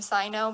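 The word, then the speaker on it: Zaino: the name zainab so my dad came up with the name sino being only two syllables zai and no my dad figured that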